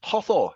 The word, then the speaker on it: Hathor: How do you pronounce that? Hathor.